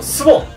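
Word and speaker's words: 水原: ェーで、スボン、水原と書いてスボンというところのチ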